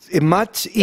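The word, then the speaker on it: Mach-E: Si lo pronuncio en inglés es I, Mach I.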